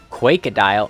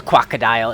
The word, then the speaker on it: Quakedile: Quakedile. Oh, it is a quackadile. It's a quackadile. It's spelled so funny.